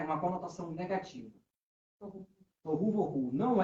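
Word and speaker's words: תֹהוּ וָבֹהוּ: Tohu, vohu. Não é voodoo não, tá, gente? Tohu, vohu. Tohu, vohu. Perfeito. É assim mesmo a pronuncia. Tohu, vohu.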